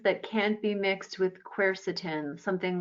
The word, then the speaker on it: quercetin: Are there medications that can't be mixed with quercetin, something like, you know, the grapefruit interactions and stuff? Are there things to look out for if someone's doing quercetin supplements?